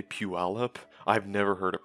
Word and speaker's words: Puyallup: puealop puyallup is pronounced pew all up dude the way you say it is so grating puyallup washington is pronounced pew all up but i don't blame